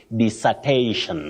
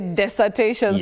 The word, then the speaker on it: dissertation: for that matter b you say this not and not Des you just say dissertation okay disertation disertation actually that's another one I used to say desertation so thank you for